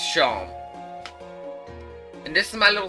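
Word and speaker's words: Seam: square uh talk about yourself the name scene pronounced sean and this is my little c over the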